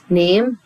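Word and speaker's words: name: يلا نشوف اسم يعني نيم نيم الايه في الاخر برض ما نينطقهاش اسمي انا اقول ماي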